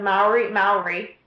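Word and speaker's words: Māori: And, I mean, of course, I received healing too, And then after that, we did the Maori is how you say it. There you go. Maori healers in New Zealand, and then in between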